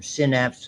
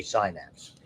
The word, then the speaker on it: synapse: we use the term synapse. Some people say synapse. I was brought up on synapse.